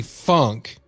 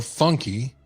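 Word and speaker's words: Funke: door okay and we all heard that Bethany funk or funky which I'm told is pronounced Funk her mother is a lawyer she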